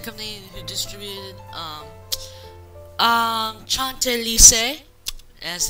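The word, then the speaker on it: Chantelise: probably the same company who distributed um um chant Lis as it's properly pronounced and U rer um but anyways enough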